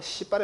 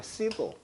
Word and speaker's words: civil: C 발음 조심해라. 씨발이 아니라 그냥 civil.